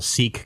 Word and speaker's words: Sikh: And then there's a Sikh guy named who says he's sick and not Sikh. He says he's sick. He pronounces it sick instead of Sikh. I think sometimes people can pronounce it either way.